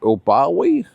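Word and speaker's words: Oubaali: And in 2019, Nordine, how do you pronounce that? Bawi is how you pronounce it.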